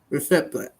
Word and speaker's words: Lefebvre: and celebrity chef Ludo Lefib. Michael, help me with this last name. Ludo. Michael? Can't pronounce this guy's last name. Lefebvre. Yeah, okay.